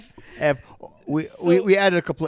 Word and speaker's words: Eevee: Ev we we added a couple of E's at the end, but it's Ev. It's F. It's Ev. It's just spelled different.